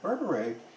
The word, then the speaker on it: berbere: burberry what is burberry berbere and that's kind of like the english pronunciation of it in ethiopia they pronounce it a little bit differently it's a it's a